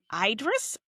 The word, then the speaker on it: Idris: Oh, I love how we were going to pronounce these names. Uh, all right. It's It's Idris.